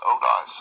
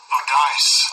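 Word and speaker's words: oudeis: Okay, and that's from the word 3762, O-U-D-E-I-S, Odice, I think. That's how you pronounce it. Strong's G 3762. Odice.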